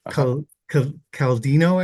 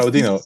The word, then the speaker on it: Claudino: Your collaborator presented with us, Daniel, Dr. Caldino, I believe you pronounced the last Claudino.